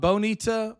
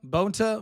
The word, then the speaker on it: Bonta: Uh Bonita, Rob Bonita, Bonta, Bonta, I say Bonita, I don't know why, but Rob Bont um I think it's pronounced Bonta, but you know who I'm talking about.